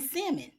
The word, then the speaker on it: salmon: who pronounce the L in salmon.